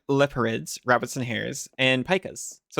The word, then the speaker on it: pika: I know a pika is a rodent, and that it's pronounced pika, not pika.